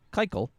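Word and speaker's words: קײַקל: on many entry forms the yiddish word for circle is kaikal pronounced kaikal for the little circle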